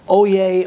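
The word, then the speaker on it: oyez: here here here or O Yay O Yay O Yay which by the way is spelled o y e z and I think it's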